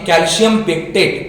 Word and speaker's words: कैल्शियम पेक्टेट: Pronunciation गलत आ रहा है. उसका नाम है कैल्शियम पेक्टेट.